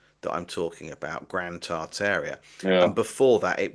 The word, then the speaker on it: Tartaria: Like I was told right at the very beginning that we don't pronounce the first R, that it's Tataria, or it's Mm, Tartaria, or it's Tartaria.